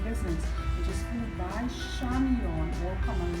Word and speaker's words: Chamion: address for the business which is go by shamon all common letters my first name is spelled c h a m i o n at gmail.